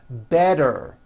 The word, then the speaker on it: better: make things easy so if a letter T Falls between two vowel sounds which are voiced so if it falls